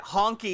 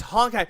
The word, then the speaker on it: Honkai: I was making a joke with my friends, call it honky, and they're like, it's Honkai. No, it's Honkai.